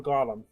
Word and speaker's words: golem: How do you pronounce is it Golem or Golem? I say both, to be honest. More so like the short O, like Gollum.